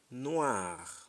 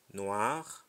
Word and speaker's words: noir: reading we move on o i is pronounced as wa example poisson Noah to wazo a poisson you can read that again means three poisson means fish Noir means black means car